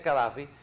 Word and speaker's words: Gaddafi: y cadfi O gaddafi creo que se escribe gadfi se pronuncia cadfi cuando viajaba andaba en